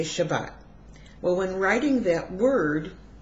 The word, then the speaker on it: Shabbat: well in today's Hebrew we use the saric pronunciation and we say Shabbat well when writing that word we would spell